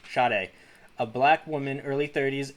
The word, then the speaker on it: Sade: some papers sayed oh sade that's how it's pronounced shade a black woman early 30s enters the room